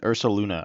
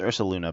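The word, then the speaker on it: Ursaluna: Ironically, one of the cards I might have undervalued was I forgot that Ursa Luna or Ursa. What is it? I think it's Ursa Luna, but I always say it wrong.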